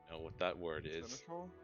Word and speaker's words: Seneschal: Seneschal. Sounds Yeah, cool. it's Seneschal. Seneschal. Seneschal. That's all. Yeah. What a weird pronunciation.